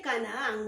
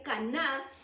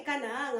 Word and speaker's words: Canaán: la tierra de Canaán pienso que se dice Canaán muchos dicen que es caná pero yo creo que es Canaán porque tiene hiato y